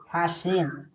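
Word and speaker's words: fasten: एस टी इ एन फास्टन यहां फास्टेन नहीं पढ़ेंगे इसे फास्टेन नहीं यानी फास्टेन पढ़ेंगे यहां टी है जो साइलेंट है एल आई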